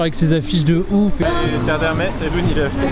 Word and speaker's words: Terre d'Hermès: me suis dit bah je vais pas lui répondre Terre d'Hermès avec l'accent bien français, elle va rien comprendre, donc je me suis dit je vais angliciser un petit peu la prononciation. Donc j'ai répondu Terre d'Hermès. Terre d'Hermès.